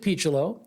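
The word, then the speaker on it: Picciolo: name of Rob picelo now it spelled like Piccolo so I at the beginning I thought oh Brian Piccolo Brian song but no he pronounced it pichulo great defensive shortstop had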